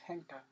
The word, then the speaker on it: Henkka: that next chunk also it's pronounced henkka yeah his name was henkka due mainly to the fish finnish ancestry this dude I got